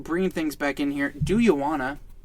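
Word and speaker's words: Dujuanna: Do You Wanna, spelled D-U-J-U-A-N-N-A. Do you wanna? And I imagine that it's pronounced as an H. So Do You Wanna?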